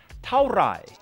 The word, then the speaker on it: เท่าไหร่: เท่าไหร่ is the way to ask how much in Thai. Let's slow it down so we can really understand the right way to say it. เท่า is a short word that falls as you say it.